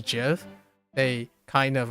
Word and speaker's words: GIF: GIF. Yep. Precisely in reference to the peanut butter brand.